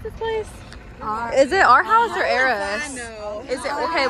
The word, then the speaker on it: Aarhus: Anyways, so the sweet lady right here did confirm that it is pronounced, what was it? Aarhus? Aarhus.